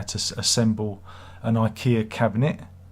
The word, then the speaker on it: IKEA: how to assemble an ikea cabinet ikea not ikea it's ikea you gotta say it properly because everyone will get you in the comments ikea not ikea ikea